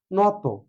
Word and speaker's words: নত: এবার আরেকটি শব্দ নিই, যেটা হচ্ছে কোন শব্দের শেষে যদি ইত বা ত থাকে, যেমন নত, নত শব্দটার উচ্চারণ হচ্ছে নত না, কি হবে ন তো।